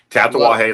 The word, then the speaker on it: Tatuaje: I can never pronounce that word. Tatuaje. No. Yeah, the Roxy. Yeah. Yep. No, so it's Tatuaje, Latelier, Roxy.